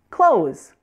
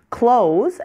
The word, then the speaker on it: clothes: easy in American English just pronounce it like you would the word close as in close the door yes that's right they're actually pronounced exactly the same clothes as in shirts and